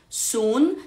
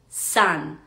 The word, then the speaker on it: sun: palabra sol por ejemplo no diríamos Sun sino que diríamos San si me entienden Entonces